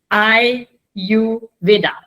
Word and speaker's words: Ayurveda: So I have to really tell them that Ayurveda, Ayurveda, I-U, and then, Ayurveda, and that's how Ayurveda, that's how things used to be.